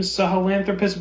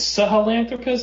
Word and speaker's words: Sahelanthropus: I think it's Sahelanthropus. Is that how you say it? Sahelanthropus, yes.